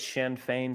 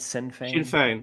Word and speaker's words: Sinn Féin: How do you pronounce it? Sinn Féin? Sinn Féin.